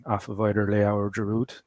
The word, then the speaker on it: Giroud: The D is silent. Giroud. Okay, Giroud.